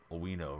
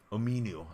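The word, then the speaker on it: Omenihu: night, and picked up I forget how to pronounce this guy's name. Owino, right? Dang it. I was trying to maximize the card. Here we go. Let me go to the options. Ominu, excuse me.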